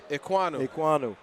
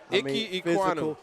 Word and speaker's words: Ekwonu: How you pronounce his doggone name? Ekwonu. Ekwonu.